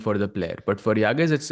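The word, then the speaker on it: Yağız: But for Yagas, it's harder. He has to hold. And also interesting, it's pronounced Yaz.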